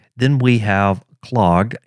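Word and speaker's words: klog: then we have clogged k-l-o-g or at least that's how i pronounce it and what this will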